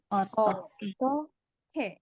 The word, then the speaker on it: 어떻게: 어떻게? Otoke. Nah, jadi pelafalannya gini, otoke. Gitu ya, otoke.